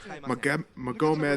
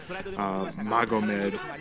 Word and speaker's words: Magomed: Magomed had turned his back. It's actually easier to say the guy's name how it should be pronounced, Magomed instead of Magomed.